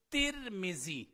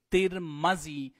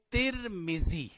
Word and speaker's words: ترمذی: تو اس کا تلفظ ہم پڑھیں گے ترمذی. اس کی میم کے اوپر جو ہے وہ ہم زبر نہیں پڑھیں گے، ترمذی نہیں پڑھیں گے، اس کو ہم پڑھیں گے ترمذی.